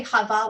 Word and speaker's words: Hava: and when we say Hava we're not saying Adam and Eve Sava is with a head these are two Haze this is Hava hey Bob hey not head Bob hey and Hava is